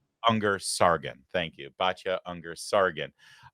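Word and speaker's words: Ungar-Sargon: So, now Bacha uh uh I always get her name wrong. Anger Sargon, thank you.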